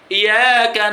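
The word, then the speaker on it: إِيَّاكَ: Itu kan ya-nya bertasydid, Bu ya. Sering sekali awak dapatkan di saat belajar tajwid itu hilang tasydidnya, Bu. Nah, terutama yang baru-baru belajar tajwid itu sering itu, Bu. Kayak mana cara bacanya? Tak pakai tasydid ya-nya. Iyyaka na'budu wa iyyaka nasta'in. Padahal kalau kita tengok di Al-Quran kan pakai tasydid gini ya. Macam huruf W kecil, itu kan tasydid namanya.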